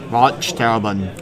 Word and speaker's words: Waldsterben: Could you pronounce that for me? Germany, Waldsterben. Oh yeah, Waldsterben. That's right.